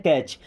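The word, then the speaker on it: catch: Okay, कैच the ball, कैच, देखिए यहाँ पे टी साइलेंट होता है, क्या बोलते हैं, कैच।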